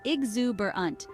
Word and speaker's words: exuberant: Lively and animated Behavior the pronunciation is exuberant with the stress on the second syllable use exuberant to describe people things